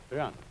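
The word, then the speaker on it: 仁: Although when we Romanize this word in English, we spell it J-E-N, it's pronounced Yuan. Sort of like rolling an R, or rather saying R but not rolling it.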